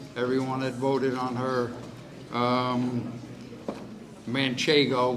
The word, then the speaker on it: Manchego: Manchego, which is the right way to say her name, but she's been called a lot of other things, Manchego, whatever.